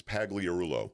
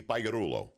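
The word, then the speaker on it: Pagliarulo: In English, it's pagorulo. Pagoro. But in Italian, you don't pronounce the G. Gi. In Italian, it's like a Y cuz you're Italiano. It would be Perulo.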